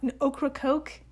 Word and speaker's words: Ocracoke: Hold on, Ocracoke? I think I'm pronouncing that right. Is it a combination of okra and a soft drink?